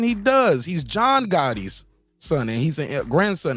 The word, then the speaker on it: Gotti: he does he's John Gotti's son and he's a grandson and he's an MMA fighter yeah that's my point and it's spelled g-o-t-t-i not g-a-t-t-i it's different Gotti's like why do y'all